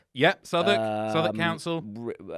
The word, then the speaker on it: Southwark: Yeah, Southwark. Southwark Council. Uh written Southwark, but you don't want to pronounce it like that.